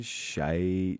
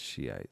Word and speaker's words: Shiite: these guys are fucking shite Muslims, man. But it's Shiite, sorry, so I can't say that. You know, I accept that is how it's pronounced, but I'm just making a fun little observation, you know.